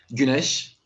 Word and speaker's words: Güneş: It's pronounced Güneş, but it was really nice. And I'm from like Turkey. Ganesh. Yeah, it's like a Ganesh, but Yeah, it means okay. sun in Turkish.